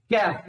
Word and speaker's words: chafe: कैफ, इसको बोलते हैं कैफ, ठीक है, CHAFE, कैफ। इसको कुछ लोग चैफ भी बोलते हैं, लेकिन ऑलमोस्ट इसका प्रोनाउंसिएशन कैफ ही होता है, बात याद रखना, ठीक है।